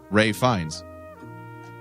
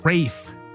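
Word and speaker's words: Ralph Fiennes: pronounce that for us he pronounces it ray Fiennes Wow ray Fiennes one more time ray fine they the first name ray and you would be incorrect I thought he pronounced like that Rafe Rafe and Wraith finds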